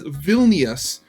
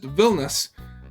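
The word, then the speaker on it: Vilnius: like purely English speakers pronounce the capital city as Vilas instead of just villus um it grinds my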